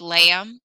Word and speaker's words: lamb: this is in english lamb nobody says the letter b knife why is that